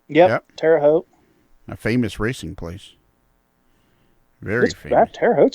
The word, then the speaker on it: Terre Haute: Rail so now they're running like over at Terre Haute area in that region too so there are